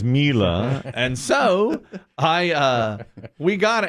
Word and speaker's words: Miele: that's an upgrade from a Whirlpool is called Miele. It's Miele, but it's pronounced Miele, and I had never heard of that.